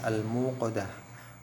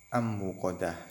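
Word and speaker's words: الموقدة: Yang kedua, narullahil muqadah, ada al-muqadah, ada alif lam bertemu dengan mim, dibaca jelas al-muqadah bukan am-muqadah. Yang al-kautsar bukan ak-kautsar tapi al-kautsar.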